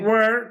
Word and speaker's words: were: ইন the life জীবনে they ওয়ার তারা কি ডিপ্রাইভড, এই উচ্চারণটা কিন্তু আমেরিকান প্রনাউন্সিয়েশন ওয়ার হবে, ওয়ার ঠিক আছে? দে ওয়ার তারা কি হবে এটা ওয়ার, they were এটা were হবে না, they were deprived তারা